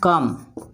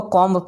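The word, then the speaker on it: comb: हूं कौन हूं में बहुत सारे लोग इस को कोंब पढेंगे कॉपर धातु कह सकूंगा सही से यहां पर साइलेंट होता हमेशा याद रखेंगे जब भी के पहले अगर यह माय तो एम के बाद आने वाला भी साइलेंट होता है इसको बोलें कॉम कॉम कॉम कॉम कॉम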